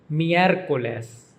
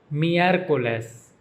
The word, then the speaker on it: miércoles: The days of the week in Spanish are pronounced from Monday through Saturday with the emphasis on the first syllable, with the only exception being Sunday, which is pronounced with the emphasis on the second syllable.